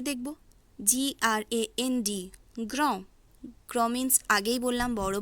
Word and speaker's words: gros: অর্থাৎ ফ্রেঞ্চ ভাষার ক্ষেত্রে সেই সমস্ত শব্দগুলি সম্পূর্ণ উচ্চারণ হয় না যদি কোনো শব্দের শেষে কনসোনেন্ট থাকে। যেমন GROS এর উচ্চারণ হবে গ্রো।